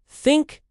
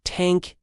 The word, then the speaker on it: think: school special speak and the famous th sound think thank this that many Portuguese learners replace it with t or d. So, thank you becomes tank. You sounds like you're sending a military vehicle as a gift. My advice, practice slowly. Put your tongue between your teeth. Yes. You'll feel silly, but it works.